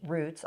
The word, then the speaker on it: Routes: now with Mills County Roots. I say roots because we kind of play on that double entandra and it's spelled routes.